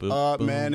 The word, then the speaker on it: Amen: I picked the game just so I can tell Dan LeBatard how to pronounce Amen Thompson. It's Amen and Sar.